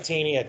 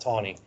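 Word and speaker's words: Taney: no no no Roger t t NE y it looks like tiny believe it's pronounced Tony uh marylander and a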